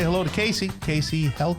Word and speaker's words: Kacey Heldt: Like I held it in my hand.